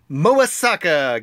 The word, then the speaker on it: Mobasaka: pari so we're back with another Champions manager MOA Sokka game oh my gosh I said it right